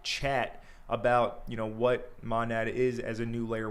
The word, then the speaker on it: Monad: I have Abdul who is the head of DeFi from Monad or how do you pronounce it? Manad or Monad? Monad.